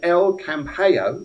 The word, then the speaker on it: El Campello: And Sally says hello for El Campello. That's how you pronounce it, folks.